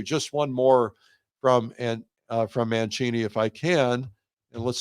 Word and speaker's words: Mancini: Uh here we would say Mancini. It's spelled like Mancini, the orchestra directory.